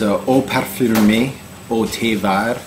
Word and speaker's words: Eau Parfumée au Thé Vert: This is Eau Parfumée Au Thé Vert. That's the French pronunciation.